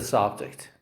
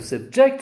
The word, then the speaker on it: subject: we say we say let's change the subject let's change that subject okay where it is a noun but when you say he'll subject us to criticism as i told you the stress is on the second syllable and it's a verb okay other examples are